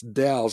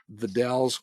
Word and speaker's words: The Dalles: By the way, you pronounce the it's Dalles, as in it rhymes with pals. The Dalles, Oregon.